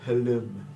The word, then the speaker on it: Hlam: It is written Hlam, but it's pronounced Halum.